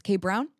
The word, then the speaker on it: Kay Brown: It's Kay Brown.